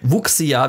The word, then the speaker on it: Wuxia: Ich habe gerade extra nochmal reingehört, wie es ein Chinese aussprechen würde. Wuxia ist okay. Wuxia wird es geschrieben.